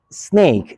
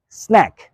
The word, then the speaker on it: snack: milk is snack but don't pronounce it snake is snack snack Means A light meal